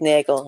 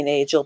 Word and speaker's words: Nagel: welcome you on Nagel, or is it Nagel? RG or a soft G? It's actually Nagel. I know I got a lot of people that say Nagel, but it's a hard G.